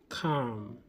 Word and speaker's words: calm: Calm, calm with a silent L.